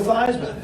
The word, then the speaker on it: Theismann: we think by just simply changing the pronunciation of your last name from these men to thighs with dry mouth Heisman we guarantee you that trophy that's how I come in Joe Theismann that was 50 years